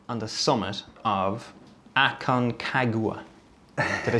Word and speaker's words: Aconcagua: Pat, what is it like on the summit of Aconcagua? Did I say it right? It's almost as hard to pronounce it. Well, it's not that hard, but a lot of people struggle to pronounce it. Aconcagua, yeah, the highest mountain in South America, highest